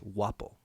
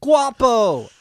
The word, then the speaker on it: Guapo: in Spain mmm it's wobble ah you don't pronounce the G but everybody's like Guapo Guapo I overheard the